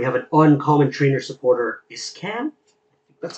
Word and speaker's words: Iscan: We have an uncommon trainer supporter, Iscan. That's how you pronounce the name.